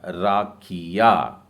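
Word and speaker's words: רקיע: में रखा है और इसका उच्चारण होगा रेश में आ की मात्रा, कूफ में नीचे एक बिंदु डाला है मतलब राखी, और उसके बाद योद और फिर आइन, उच्चारण हो जाएगा राखिया।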